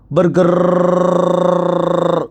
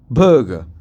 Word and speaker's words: burger: hello my lovely students number one ಬರ್ಗರ್ ನೋನೋನನೋ ಬರ್ಗ್ ಬರ್ಗ್ ಸರಿಯಾದ ಪ್ರೊನನ್ಸಿಯೇಷನ್ ಬರ್ಗ್ number two vitamin no